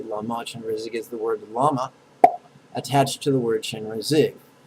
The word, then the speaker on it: Lama: So first syllables, la, la, la. Second syllable, ma, ma, ma.